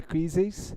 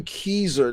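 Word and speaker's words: Keezer: in the tree with jeffrey quizzes i'm sorry about that my pronunciation no jeffrey keyser uh jeff keyser and uh well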